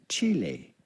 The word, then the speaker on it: Chile: of the country Chile in Spanish this is pronounced Chile Chile Chile Chile of course he's playing octus